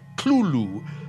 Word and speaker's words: Cthulhu: Então, numa carta em 1924, ele explica que devem ser duas sílabas: Coloque a língua no céu da boca e tussa, como "Clu-lu". Mas ele disse que o